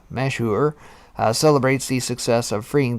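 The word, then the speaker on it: Mashhour: so the egyptian team of the tugboat mashhauer pronounced mashur celebrates the success of freeing the ever given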